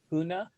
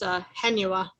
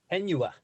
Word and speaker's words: Henua: the property at 110 Huna, is that how you pronounce it? Street, if the state agrees it's eligible for the use of CLG funding. Excellent. And can we get a second? I'll second. It's Henua. Henua.